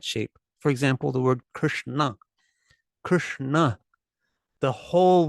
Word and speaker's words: Krishna: for example the word Krishna Krishna the whole word has the tongue folded up on the roof of the mouth Krishna so it's just easy